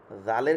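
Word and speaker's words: ذال: তারপর হচ্ছে ওই যে সায়ের সময় যেরকম বাতাস বের হয়েছে এরকম এই জায়গাতেও জালের ক্ষেত্রেও এরকম যা, এরকম বাতাস বের হবে, জাল, জাল, জাল, জাল, জাল, দেখেন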